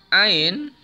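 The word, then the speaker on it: عين: Hai Mbak aiueo Mbaknya jadi cara membacanya dengan menyempitkan rongga tenggorokan bagian tengah kemudian didorong dengan dorongan nafas air4d di Jawa pada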